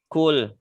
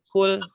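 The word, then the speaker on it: قُلْ: Seperti kesalahan jali pada surah An-Nas, ini huruf qaf dibaca pakai kaf. Kul. Kalau dibacanya pakai kaf, kul maka artinya makanlah. Yang Allah yang Allah perintahkan pakai qaf, kul.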